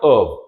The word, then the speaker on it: of: of again V because it's not F it's V this letter F gives us the sound V again sometimes you may hear how native speakers well it happens quite rarely but sometimes they do pronounce it as F but most times it's going to give us this V sound right so out of